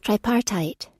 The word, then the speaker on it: tripartite: How do you pronounce it? Tripartite.